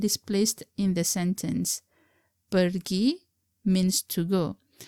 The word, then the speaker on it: pergi: Pergi means to go. Colloquially, sometimes we drop the letter R in the word pergi to become pergi.